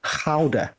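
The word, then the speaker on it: Gouda: but actually I I enjoyed the howder as they pronounced it oh yes yeah howder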